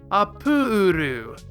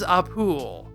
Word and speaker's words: Appule: Toriyama takes that, swaps the emphasis from the consonant to the following vowel, Appule, and it's so simple that nearly everyone agrees. This is Appule.